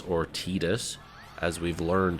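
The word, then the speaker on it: Tidus: given us the name the default name is titus or tedious as we've learned it's apparently called even though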